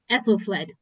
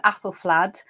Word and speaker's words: Aethelflaed: And it is to talk about one particular Anglo-Saxon woman that Annie has joined us today, Aethelflaed, Lady of Mercia.